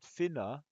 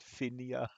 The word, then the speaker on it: Finna: we were talking about finna and I kept uh I think I kept pronouncing it finia sorry finna is actually the first one of